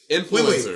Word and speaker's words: influencer: Influencers. Wait. I can't tell. Okay, we need to stop. When I think of the word influence, I say influence, not influence. Influence. My accent is on in.